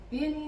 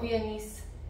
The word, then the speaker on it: Viennese: going to be making venise whls I always end up saying it weird so hopefully I said it right that time VI swirls not viones Swirls and after doing research